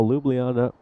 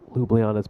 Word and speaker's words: Ljubljana: And now Ljubljana have just allowed this Afyon Karahisar run rate to creep up to 7. Nothing too alarming, but again, Ljubljana's plan here will be to get 4 points out of this match.